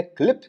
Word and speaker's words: Qlip: अगला टूल है क्लिप, जिसकी स्पेलिंग है QLIP।